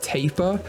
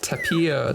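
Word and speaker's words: tapir: this wrong as well you guys said it's taper which makes so much more sense i was pronouncing it like tapia tapia i had no idea it's paper so that's good but um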